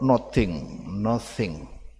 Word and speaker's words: nothing: please don't forget nothing it is eh t and h it should be read like no not nothing so t combine with h th in Indonesia sometimes is read like theal father sometimes write like three like this one also nothing so you should try to say just as precise as possible oke please repeat nothing